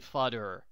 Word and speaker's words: Fudder: so our narrator is Billy fudder rhymes with utder Billy has a rare